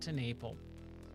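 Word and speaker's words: TenNapel: Creator Doug tenal um I think that's how you pronounce his last name tenle that's what it is Doug to Naple uh his art is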